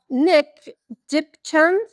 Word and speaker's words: Nick Dipchand: Shall we pass it over to Nick Dipchand? Is that right? Yeah. Yeah. Have I pronounced that right? Yeah, that's it. Yeah, that's it.